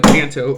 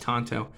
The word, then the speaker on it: tanto: as you know a tanto or a tonto rather people talk about that in my comments all the time it's pronounced tonto i know a tonto blade or a point